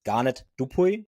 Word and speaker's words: Garnet Dupuis: It's Garnet Dupi. Is it right the pronunciation?